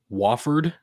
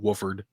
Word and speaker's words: Wofford: Next up is Wofford, is how the president of Wofford pronounced it in the press conference today. I've always called it Wooford, but Wofford apparently has hired a I new head wonder coach.